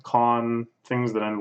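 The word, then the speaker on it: 館: So it's usually pronounced con.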